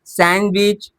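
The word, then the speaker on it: sandwich: तो bridge, सैंडविच, Wednesday, handsome. बात समझ में आ गई? यहां पर क्या होता है? डी साइलेंट होता है।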